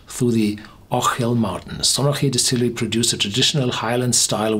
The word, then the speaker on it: Stronachie: Pronunciation Stronachie. Stronachie.